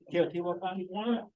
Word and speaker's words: Teotihuacan: Teotihuacan?